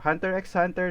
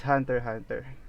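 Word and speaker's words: Hunter × Hunter: So you don't pronounce the word X in that title because it's just like decorative style when you are writing a title or something like that. So Hunter x Hunter, no, it's not Hunter x Hunter.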